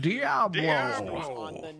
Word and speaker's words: Diablo: Ah, Jeff, I see you're another man of good taste that knows it's pronounced Diablo.